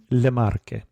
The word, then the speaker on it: Le Marche: not be on your map, and that is Le Marche.